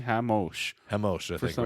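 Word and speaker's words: Ramos: He fought Davi Hamos Hamosh. I forget how to say it. He's Brazilian. It's They were saying, R-A-M-O-S. yeah, they were saying Hamosh.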